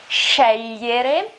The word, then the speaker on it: scegliere: I know the pronunciation isn't very easy here because you have the GL sound. You remember my video about pronunciation, about phonetics. The pronunciation is when you have a GL sound and then a E.